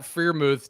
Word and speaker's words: Freiermuth: I don't even know how you pronounce it. Freiermuth? No, there you go. You finally got it.